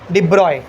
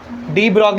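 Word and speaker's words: de Broglie: Louis ठीक है ना प्रिंस लुई डिब्रॉय डी ब्रॉग नहीं क्या है वो डिब्रॉय देख आपको ब्रैकेट में दिया उसने प्रोनाउंस एज डिब्रॉय वो जानबूझ के लिख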